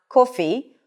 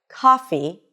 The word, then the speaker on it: coffee: It's not coffee or job, but coffee and job.